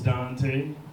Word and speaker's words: Duante: My name's Duante. It's spelled all fucked up though.